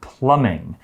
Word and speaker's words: plumbing: can sometimes interfere with plumbing be careful here because there's a silent b plumbing is spelled p-l-u-m-b-i-n-g plumbing is the system of